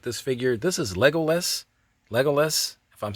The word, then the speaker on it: Legolas: Legolas, if I'm saying that correctly, I believe that's the pronunciation. Legolas, you have to say it kind of fast.